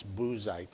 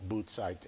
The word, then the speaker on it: Buzite: or the TS sound, whereas the Z, as depicted here in Buzite, is the Zion, which is the Z sound. That's why that's Buzite and not Bootsite, as the way Uts is Uts.